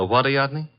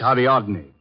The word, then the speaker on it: Ariadne: The waradne, the girl in the statue. Oh, that's Ariadne, faggic nymph of Greek mythology.